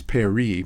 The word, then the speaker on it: Paris: I think it's peri but I'll find out. There we go. Pari. So you notice what it's doing is doing that way.